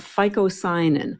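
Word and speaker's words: phycocyanin: And this blue pigment is called ficoyanin. I'm going to spell that for you.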